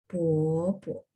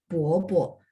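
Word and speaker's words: 伯伯: 爸爸的哥叫 Bobo. Ingat BO bacanya B baca P. Terus O dia harus sisipin UO gitu ya teman-teman kalau masih ingat ya. Bobo. Bacanya Bobo ya.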